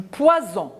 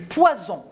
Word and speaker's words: poison: poisson a bu du poison regardez le s entre deux voyelles un seul ace une seule lettre la lettre s elle est entre les deux voyelles je prononce ce pouvoir